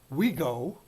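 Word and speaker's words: WIGO: sense represents what in general semantics is called Wego or it's spelled w-i-g-o and it stands for what is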